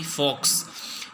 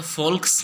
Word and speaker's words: folks: रहे हैं कि भाई फॉक्स, FOLKS, यहाँ पे तो फोल्क्स नहीं कहेंगे, जो L है यहाँ पे साइलेंट होता है, ठीक है, तो क्या बोलेंगे फॉक्स।